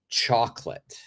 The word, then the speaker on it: chocolate: so the second o the second o is completely silent do not say do